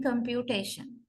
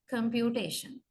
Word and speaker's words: computation: the primary stress in computation computation and the next strong stress goes to the First syll Comm so we say third syllable receives the primary stress and first syllable receives the secondary stress uh according to the